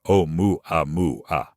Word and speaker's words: Oumuamua: For those unfamiliar with the story, Oumuamua, pronounced O-mu-a-mu-a, was first detected on October 19, 2017, by astronomers using the Pan-STARRS telescope in Hawaii.